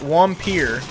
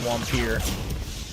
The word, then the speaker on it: Wampir: kind of suck uh wampir or I guess the way it's spelled is like vampire but I think it's pronounced wampir that game uh yeah I